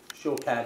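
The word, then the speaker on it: שקד: Shokad, it's pronounced shokad.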